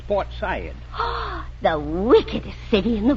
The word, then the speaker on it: Port Said: And you don't say Port Said, it's Port Said.